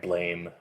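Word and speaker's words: Blame!: from like Naissance and Blame. This game is Manifold Garden. This is Blame or Blam. I think it's pronounced Blame.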